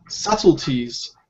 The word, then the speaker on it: subtleties: attitude markers often express subtleties of meaning in case you're wondering about this word the B is is silent yeah we don't pronounce this B um so it's important